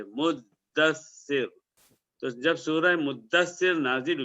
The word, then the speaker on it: مدثر: میں سورہ مدثر نہیں انڈین، پاکستانی، بنگلہ دیشی تلفظ ہے مدثر، دال پر زبر، عربی کا جو لفظ ہے وہ اس کے تشدید کے ساتھ ہے مدثر۔ تو جب سورہ مدثر